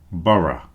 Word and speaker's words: borough: The last ones are pronounced just with the schwa sound, schwa, the sound that goes So if you listen to this, thorough, borough.